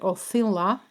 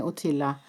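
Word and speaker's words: Othila: you might pronounce it authila in norwegian we would say utila so let me just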